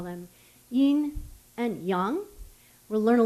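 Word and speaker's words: 阴: So yin is the first tone.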